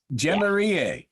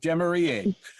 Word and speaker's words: Jemiriye: J Maria J Maria yes I've been saying your name wrong the whole show J Maria you said it perfect J Maria that that's the best one saving the best for